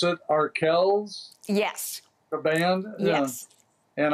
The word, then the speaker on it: Arkells: with the name of i guess do you pronounce it arkells yes the band yes and i've listened to